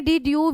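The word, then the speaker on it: de Duve: में आपने डी ड्यूब, बेटा इनको डी ड्यूबे भी बोल देते हैं और डी ड्यूब भी बोल देते हैं, प्रोनाउंसिएशन जो है वो आप लोगों की अलग अलग हो सकती है, लेकिन जो साइंटिस्ट हैं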